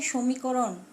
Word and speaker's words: সমীকরণ: যেমন সমীকরণ, দেখো বাংলা উচ্চারণে সমীকরণ স ওকার।